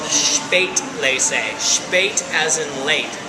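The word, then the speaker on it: Spätlese: above that is called Spate leate as in late s p a t l e s eate Le andate actually it rhymes with and means late equals late Le means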